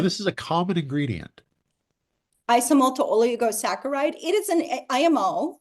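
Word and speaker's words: isomalto-oligosaccharide: Isomalto oligosaccharide.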